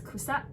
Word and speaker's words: 草: So then they use Cao, so which pronounced in Japanese as kusa, to refer that's laughter.